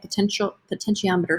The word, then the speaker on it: potentiometer: That's how you say it, potentiometer. So like how much potential is kind of what it's sort of coming from.